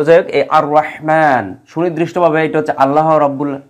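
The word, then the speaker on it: الرحمن: আলামীনকে বুঝানো হচ্ছে অর্থাৎ আর রহমানু এই জায়গায় আমরা যেহেতু ওয়াকফ করি সেজন্য আমরা পড়ি কি আর রহমান অর্থাৎ এই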